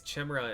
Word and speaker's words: Chimera: That's why for like the first 20 years of my life I pronounced Chimera wrong. Clearly, it's Chimra and Gemra. It wouldn't be Jimera.